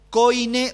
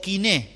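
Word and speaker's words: κοινή: los filósofos, sino el griego koine o kiné, si uno lo pronuncia correcto, que era el griego común, quiere decir, el griego del pueblo.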